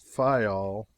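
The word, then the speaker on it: Fayal: people there pronounce it fol and put the accent on the first syllable we anchored in the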